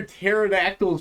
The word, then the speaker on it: pterodactyl: Why can't you hear pterodactyls pee in there? Oh, yeah. Hold on. Why? I already said it. Why can't you hear a pterodactyl pee? Because the P is silent.